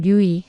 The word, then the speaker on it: 류이: 저의 이름은 류이, 한국식으로 발음하면 루이라고 하죠.